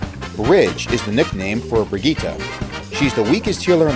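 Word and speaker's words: Brigitte: nickname of bridge well I thought her name was originally pronounced Bridget despite the lack of a D in her name so of course you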